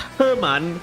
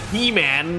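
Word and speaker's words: He Man: yes there's a well it's pronounced Herman it's not He-Man okay He-Man yeah that's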